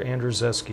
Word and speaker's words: Andrzejewski: Peter Andrzejewski. Is that how you would pronounce that?